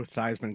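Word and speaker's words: Theismann: only heard of Joe theeman Joe theeman yeah boy you want to talk about Big Time backfires changed the pronunciation of his last name to try and win the Heisman and didn't win the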